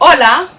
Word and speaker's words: hola: whom you're familiar so hola repeat hola remember in spanish that the h is silent so you would never